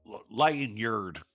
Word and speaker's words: lanyard: lanyard lanyard yeah well say it like an American lanyard lyard yeah there you go that's getting it don't look at the letters feel your way through it no I don't want